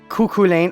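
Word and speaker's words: Cú Chulainn: how to pronounce names kuku Lane okay I could sort of see that I don't that's supposed to be what is this an Irish name kuku Lane I could see that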